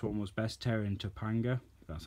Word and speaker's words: Topanga: To be honest, I think the first one was best, Terror and Topanga.